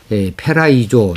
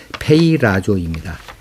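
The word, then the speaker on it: πειράζω: 근데 제가 어제 이 단어를 읽으면서 처음에는 페이라조 했다가 뒷부분에 가서는 페라이조 이렇게 발음을 한 것이 한두 군데 또 제 귀에 들려나더라고요. 그래서 그것을 바로잡습니다. 페이라조입니다.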